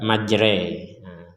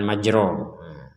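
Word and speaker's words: مجريها: menandakan imalah cara membacanya cara membacanya adalah dengan membaca majreah seperti kita mengucapkan kata remot atau revolusi majre jre majre bukan majro bukan majri bukan majro bukan majri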